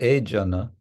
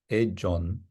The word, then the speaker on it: Jana: So Jana, Jon in Bengali, modern Bengali pronunciation, Jon.